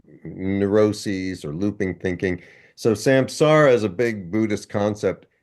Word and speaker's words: samsara: Oh, and one funny thing, there was this Buddhist term that I was always mispronouncing, which is, and I might have reverted to my mispronunciation, samsara. I think it's samsara, but I was calling it samsara the whole time.